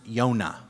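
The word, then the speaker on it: יוֹנָה: the biblical book jonah jonah in hebrew is pronounced yonah yonah is really less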